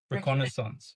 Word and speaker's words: reconnaissance: Reconnaissance.